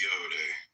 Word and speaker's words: Yod: The 10 ineffable Sephiroth, Yod pronounced Yode, transcribed as I, Y, the number 10, meaning creative hand, the intelligence of will.